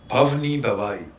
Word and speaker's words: भवनी भवाई: गए, और आपकी पहली फिल्म का सर में प्रोनाउंसिएशन उसका बार बार ववनी भवाई। भवनी भवाई, भव मीन्स लाइफ टाइम, हाँ, और भवाई इज गुजरात का एक फोक थिएटर फॉर्म है, इसका नाम है भवाई।